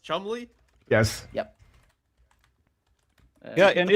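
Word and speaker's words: Cholmondeley: Just spell it like Chalmondley. how it doesn't sound. It's spelled Chalmondley. Chumley. Oh my god, it is pronounced Chumley?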